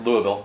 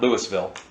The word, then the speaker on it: Louisville: flog into Louisville and it's pronounced Louisville not Louisville here when you fly